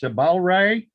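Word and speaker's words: Cebalrai: name of this star c-e-b-a-l-r-a-i sabal ray double rai that's the one i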